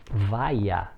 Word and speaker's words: vaia: Então no aspecto fonêmico, reparemos, temos a palavra vaia. Se vocês pronunciarem, tentem perceber que vai aparecer um i quando você pronuncia. Vaia. Repare que este i aparece. Nós chamamos esse fenômeno de iode. Vaia. Esse i aparece.